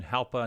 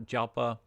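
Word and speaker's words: Jalpa: kachia now that again that's kind of like an H instead of a j pronunciation halpa not japa the one-year trend's up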